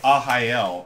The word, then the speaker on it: Arraial: and play ahael next and it's spelled r-a-r-r-a-i-a-l but uh it's a portuguese word for it's some kind of party like a neighborhood party um so since portuguese the ours sounds like an h uh to us so